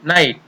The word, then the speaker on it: नाइट: टी दे रखा है, तब जी एच का उच्चारण नहीं करते हैं। जैसे फ आई ट, अब यहाँ पर जी एच है वो ये है वैसा ही साइलेंट रह गया। इसी प्रकार न आई ट नाइट, ये जी एच है वो यहाँ पर साइलेंट रहता है।